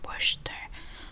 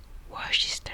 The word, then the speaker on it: Worcester: Worcester, and I would pronounce it like Worcester sauce. Yeah, because that's literally how it's spelled.